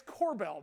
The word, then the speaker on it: Kobel: Brian, it's Kobel, knucklehead.